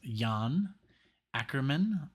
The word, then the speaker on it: Jan Akkerman: I think it's called um the name is pronounced Yan acrian because I remember when we did um what